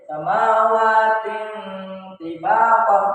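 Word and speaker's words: سَبْعَ سَمَاوَاتٍ طِبَاقًا: Jadi cara membacanya itu samawatin tibaqah. Nah, jadi samawatin tibaqah, bukan tin tapi ting.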